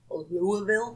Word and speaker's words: Louisville: So, Waverly Hills Sanatorium is located in good old Louisville, Kentucky.